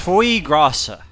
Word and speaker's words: foie gras: It's pronounced foie grasa.